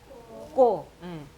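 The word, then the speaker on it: ཀོ: 그 다음에 자, 마지막 오 발음 아까 옴자에 있었는데 까에다가 오 발음이 붙어서 자, 어떻게 발음될까요? 이거는 꼬. 꼬죠. 꼬. 까에다가 꼬가 합쳐져서 꼬. 이게 탈락이 되니까 꼬가 되겠죠.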